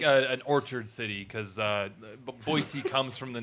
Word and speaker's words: Boise: It's pronounced Boise.